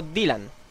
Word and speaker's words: Dylan: este personaje tan entrañable llamado Dylan o Dilan como se quiera pronunciar Bueno pues el juego en